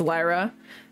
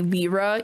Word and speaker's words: Lyra: pronunciation like Lyra okay so it's Lyra but people keep calling me Lira even though the pronunciation